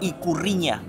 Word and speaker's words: Ikurriña: Se le dice Ikurriña. Creo estar pronunciándolo bien.